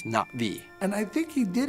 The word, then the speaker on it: Na'vi: So I I wrote, you know, I wrote it as N apostrophe vi so that it wouldn't be Nav'i or Na'vi. It's NaVvi.